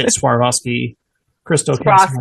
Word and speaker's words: Swarovski: One of the I don't know how to say it, Swarovski crystal castle. Swarovski, yeah.